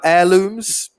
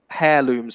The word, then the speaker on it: heirlooms: sure if you said hair looms or heirlooms but yeah so it's a it's a silent h but yeah but a